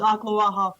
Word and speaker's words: Ocklawaha: It's Ocklawaha, Florida.